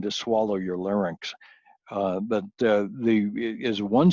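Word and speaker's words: עַי: So I would be the correct pronunciation. If you hear someone say AI, that means they don't know how to pronounce the word. And you're allowed to feel a moment of sorrow for them. You can pity them that they never bothered to learn Hebrew. But you must never pronounce it AI. Always say I.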